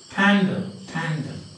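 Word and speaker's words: Pandar: And now you have got again very interesting questions like, you know, you remember this man, P-A-N-D-A-R, and that is pronounced Pandal. Not Pandal, but Pandal.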